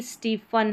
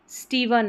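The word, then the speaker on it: Stephen: स्टीवन या स्टीफन। यानी कि पी एच को यहां पर जैसे हमने पहले पढ़ा था पी एच का साउंड फ रहता है। तो आप इसको फ ही प्रोनाउंस करें।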